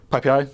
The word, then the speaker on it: PyPI: let's let's talk a bit about PPI so ppi is the python package index it's pronounced PPI um it's the default source of